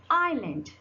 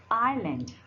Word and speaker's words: island: Your letter S is silent.